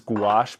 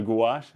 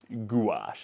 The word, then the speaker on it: gouache: it um this here this pigment this is guac paint so gach gach is how you pronounce it and what that is is that's exciting Kyle um gache paint gash is basically just gu gum and pigment and